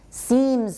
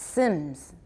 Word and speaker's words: seems: often gets pronounced dip seems often gets pronounced sins and really is really